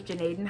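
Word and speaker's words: Gnadenhutten: It's like Gnutenhutten, which I know is Janaden Hutton, but it's just hard, okay?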